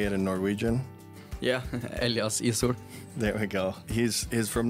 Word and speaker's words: Elias Ishoel: Yeah, Elias Ishoel.